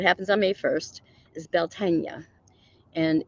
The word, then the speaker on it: Beltane: And on May 1st, we celebrated Beltane, or as Americans call it, Beltane. But I found the true pronunciation of Beltane that happens on May 1st is Beltane.